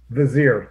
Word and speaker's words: vizier: the uh the bizarre that how do you pronounce that vizier vizier thank you yeah that's all right they're having